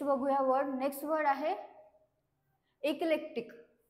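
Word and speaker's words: eclectic: word next word आहे इकलेक्टिक हे सिलेक्टिक नाही याला प्रोनान्स करण्यात येते इकलेक्टिक ओकेक्टिक तर याचा अर्थ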